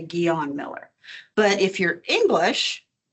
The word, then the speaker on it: Guion: The English version is Guion. That's how the English pronounce that, Guion. I scratch my head and I go, oh, no. So I put it in as a French, a translation to French, and it's Guion.